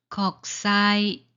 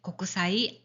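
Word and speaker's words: 国際: 걱사이 곡사이 자, 이것도 고그사이 고사이 아닙니다.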